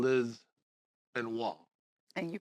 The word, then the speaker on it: Benoit: of all when I saw your name Liz and wall and you pronounced that perfect see now so wait it's